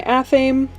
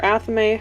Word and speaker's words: athame: Right down here, we've got my athame, or athame, however you'd like to pronounce it.